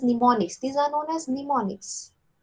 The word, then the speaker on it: mnemonics: these are known as mnemonics it starts with p however p is silent these mnemonics you know